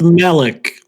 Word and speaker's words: Malek: It's pronounced Malik.